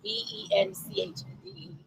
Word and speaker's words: Benchd: And every time I said bench, I felt like I was saying bench. So I was like, I need to clarify. It's BENCHD.